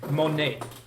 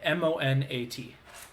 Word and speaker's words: Monat: know anything about this monet monet spell it uh i think i'm saying right m-o-n-a-t monat i think that's it uh they without